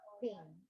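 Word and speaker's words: PNG: into three the jpeg the gif and the ping so this was the third bullet is pronounced as thing okay so it's a common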